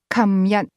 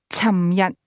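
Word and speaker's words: 琴日: The term yesterday, for example, is pronounced kam yat in Hong Kong, beginning with a k sound. However, a speaker from Guangzhou is more likely to say cham yat For the most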